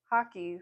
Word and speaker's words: Hake: They're pronounced kind of hockey, like the game hockey, but they're spelled Hake.